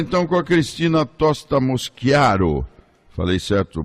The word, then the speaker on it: Mosciaro: Vamos conversar então com a Cristina Tosta Moschiaro. Falei certo, pronunciei certo seu nome, não? Bom dia, Bom doutor dia, Thanos. querida, bom Moschiaro. dia. Moschiaro.